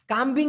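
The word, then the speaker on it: kambing: ঠিক আছে আচ্ছা কাম্মবা কাম্বিং এর কথা কিন্তু বলতেছি না একটা হচ্ছে কাম্বিং প্রায় একই রকম শোনা যায় এরকম হবে কে এম বি আই এন জি উচ্চারণটা হয় কাম বিং এই কাম্বিং মানে কিন্তু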